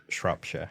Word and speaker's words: Shropshire: Shropshire. That's a made up word. Wonderful. Can you spell it?